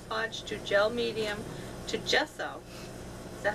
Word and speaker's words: gesso: I've tried everything from Mod Podge to gel medium to gesso.